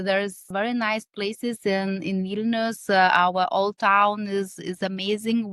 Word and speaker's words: Vilnius: Did I pronounce that right? Vilnius, that's the capital.